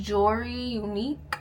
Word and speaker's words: Jory Unique: So for the people that don't know, or like if you see my name and you don't know how to pronounce it, it's pronounced Jory Unique.